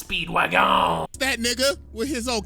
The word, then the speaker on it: Speedwagon: Pronounce it correctly. It's Speedwagon.